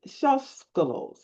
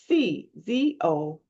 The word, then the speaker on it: Czolgos: Another one, Leon Shoskolos. Now I'm saying that wrong, I'm sure. Czoloc. Let me spell it correctly. Czolgos.